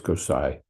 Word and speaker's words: Gosai: It's not Ani, or the tilde in a lot of words would indicate a nya, as in canyon. But it's not that. So it's Gosai. And therefore it rhymes. Iha Chaitanya Gosai, Iha Nityananda Bhai.